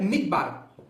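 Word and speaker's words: מדבר: palavra deserto em hebraico a pronúncia é midb midb então a palavra deserto é midbar Artur que que significa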